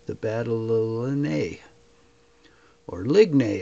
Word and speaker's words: Ligny: Battle of Ligny, or Ligny as I like to say it, but I guess it's pronounced Ligny.